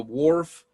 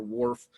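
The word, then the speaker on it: Whorf: i want you to consider is called the wharf safer hypothesis and i'll spell that for for you w-h-o-r-f and then there's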